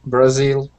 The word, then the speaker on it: Brazil: Japan, Brazil. Yes. So they're the same way. Second syllable.